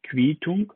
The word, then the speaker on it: Quittung: Quittung ausgesprochen.